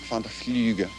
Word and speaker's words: Van der Vlugge: Vlugge, Van der Vlugge. Rhymes with tulips, which coincidentally is what I sell.